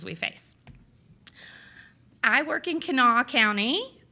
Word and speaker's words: Kanawha: I work in Kanawha County. That's the first person who's ever nailed the pronunciation, Kanawha County.